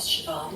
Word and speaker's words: Siobhan: Well, my name is Siobhan, and the Siobhan is not spelled like it sounds.